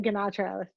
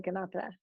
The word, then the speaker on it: Ganatra: You got the T that you did the Indian pronunciation. Most people say Ganatra, like Sinatra. But but if I'm in India once in a while, someone will bust out with the Ganatra.